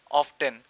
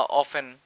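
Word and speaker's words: often: তারপর আসি এখন 4 নাম্বারে, generally, daily, regularly, always, sometimes, অফটেন বা অফেন, যেটাই বলেন, ব্রিটিশ ল্যাঙ্গুয়েজে বললে অফেন বলবেন, মানে ব্রিটিশ অ্যাকসেন্টে বলে, আর যদি আমেরিকান প্রোনাউন্সিয়েশনে বলেন তাহলে হবে অফটেন।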